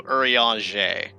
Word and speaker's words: Urianger: Urianger? Close. Again, French. So Urianger.